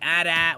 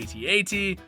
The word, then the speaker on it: AT-AT: a group of them how to pronounce the name of this vehicle some fans say at at while some say at8 but whatever you call